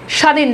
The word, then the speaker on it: স্বাধীন: এখানে দেখেন বফ উচ্চারণ নাই স্বামী দেখেন বফের উচ্চারণ নাই স্বাধীন দেখেন বফের উচ্চারণ নাই স্বর্গ বফলা উচ্চারণ নাই